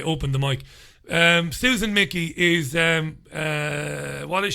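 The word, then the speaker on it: Michie: is it's spelt m-i-c-h-i-e i would have thought it was pronounced michy but it's pronounced mickey susan mickey i just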